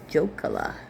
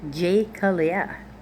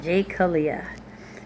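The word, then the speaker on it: Jecoliah: His mother's name was, I'm going to say Jokala, but hang on. Jekaliah. That's how you say it. Jekaliah.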